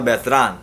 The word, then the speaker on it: Beltran: My main man, Fernando Beltran, or Fernando Beltran. We'll put the Spanish pronunciation on it. We'll put some respect on his name.